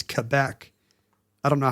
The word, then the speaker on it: Quebec: The official pronunciation is Quebec.